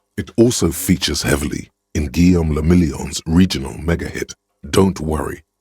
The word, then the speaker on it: Guillaume le Million: Guillaume le Million. Guillaume the If Million. it doesn't rhyme, you're not pronouncing it right.